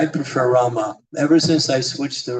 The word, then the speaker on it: Rama: Prabhupada said, chant Rama. Because that's, when you write it, that's how it is. It's Rama.